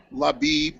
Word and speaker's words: Leib: okay the pronuncia of my pronunciation of my name is correct laib okay and I'm from